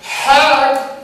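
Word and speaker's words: חג: Hajj, Arabian Arabic. Hag, Egyptian Arabic. Hag in Hebrew.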